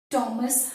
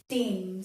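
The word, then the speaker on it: Thames: तो दिस इज थॉमस Hardy. अगर हम लंदन के रिवर की भी बात करें तो दिस इज टेम्स, दिस इज नॉट थेम्स, okay? द H gets silent, so दिस इज Thomas Hardy, not Thomas Hardy.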